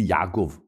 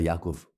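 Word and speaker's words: יעקב: sont sont des guturales le Aï évidemment le Aï tout le monde la comprend comme étant une guturale sauf si on la prononce de façon moderne mais c'est faux on dit Yaakov on dit pas Yaakov alors je vous avais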